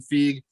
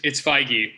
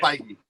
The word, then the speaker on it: Feige: producers, actors, directors, Kevin Feige. I don't know if I always say his last name wrong. Did I say it right? It's Feige, but it's okay. Feige.